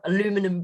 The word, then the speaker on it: aluminum: australia the little boats a little aluminium boat aluminum boats depending on which culture you're from as to how that pronunciation goes but um they've turned them